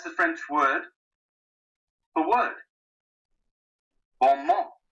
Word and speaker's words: bon mot: Bon mot. You don't pronounce the final T.